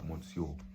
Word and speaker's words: Monsieur: decided to call myself Monsieur as my alias for now. Not Monsieur, Monsieur. That's how the French say it.